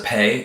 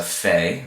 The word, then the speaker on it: Pe: This is a Pei, can also be pronounced as a Fe, okay, like Paro, or also at the end of the biblical character named Yosef, we see a final Pei.